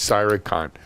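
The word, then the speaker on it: Cyr3con: it up thanks Helen my company's name is cyber con Cyr 3co n CI war see why are number three Co N and it's Sai recon fantastic Sao Paulo I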